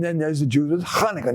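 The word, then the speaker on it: Chanukah: there's the Jews with Kaneka. Notice I say it like a Jew.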